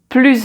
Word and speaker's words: plus: So we pronounce the final S like a Z together with the following word with the vowel sound as if it was one single word. So, plus entendre.